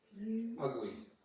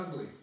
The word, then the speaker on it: ugli: Lovely word, an ugly. I think you probably pronounce it oogly rather than ugly. Well, I pronounce it ugly.